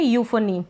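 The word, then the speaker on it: euphony: इसको पढ़ रहे हैं यूफनी। क्या पढ़ रहे हैं? यूफनी। अब आप कहेंगे पी एच को फ क्यों पढ़ रहे हैं?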